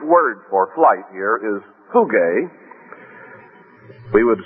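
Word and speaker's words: φυγή: that the Greek word for flight here is phuge. We would spell it I suppose, p h u g e.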